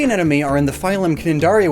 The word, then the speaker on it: Cnidaria: Sea anemone are in the phylum Cnidaria with a silent C, and are closely related